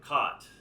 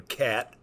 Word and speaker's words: Kaat: the nickname well you pronounce my name properly cot but a lot of